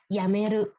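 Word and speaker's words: 辞める: Ya, yameru bacaannya. Yamemas. Yamemas berhenti. Ya, mengundurkan diri. Yamemas. Bisa juga yamemas tidak hanya mengundurkan diri, bisa juga berhenti merokok misalnya ya, tabako yamemas bisa juga. Ya, yameru berhenti mengundurkan diri.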